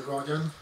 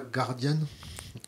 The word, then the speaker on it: Guardian: même microcosme press anglosaxon en presse anglo-saxon le Guardian Guardian oui mais oui oui oui Guardian moins mais mais le Guardian oui oui c'est c'est bien c'est pas Guardian Guardian on dit Guardian Guardian c'est c'est faux de